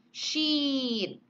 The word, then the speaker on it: sheet: Jadi I-nya pendek, oh shit. Beda dengan yang ini. Sheet. Oh, how many sheet do you want for the paper? Oh, I need 4 sheet. Ya, jadinya panjang.